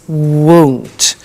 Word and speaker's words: won't: the money is won't be careful with the pronunciation it's not want its won't so the example is